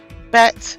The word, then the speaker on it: Bet: Bet is the second letter. When it has a dagesh, which is a dot inside the letter, it is pronounced as B, as in boy or bat.